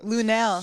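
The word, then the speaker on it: Lunell: Yeah, Lunel.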